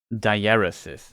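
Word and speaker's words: diaeresis: it show it's pronounced in English the correct pronunciation is diarysis is a pronunciation and all that's also like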